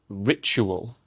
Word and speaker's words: ritual: Secondly, ritual. It's a ch sound. The same ch as in nature, picture, and furniture.